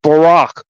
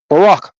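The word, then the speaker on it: Baraq: B A R A Q. That's pronounced Barack. Barack.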